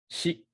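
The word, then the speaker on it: し: Now pay attention to this one because you notice how this is SHI and not just simply SI. In old Japanese, people used to pronounce si, the SI sound. That sound used to exist. But as Japanese evolved, it changed from si to shi with an SHI.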